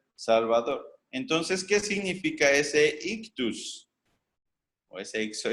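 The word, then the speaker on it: ἰχθύς: pero este pececito que algunos traducen como ixo ya que nada tienen que ver en realidad su pronunciación sería ictus es una idiota una y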